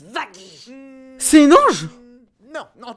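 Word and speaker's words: Vaggie: Une bonne fois pour toute ça se prononce Vagy.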